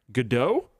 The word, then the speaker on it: Godot: One interesting thing, though, Godot, did I say it right? There you go. Godot is free.